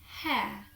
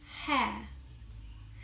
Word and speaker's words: hair: We tend not to pronounce R in words where R is not followed by a vowel. So for example, the word hair, hair.